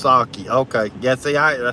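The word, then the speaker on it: sake: is getting the money uh Natalie says it's pronounced saki okay yeah see I I told you Natalie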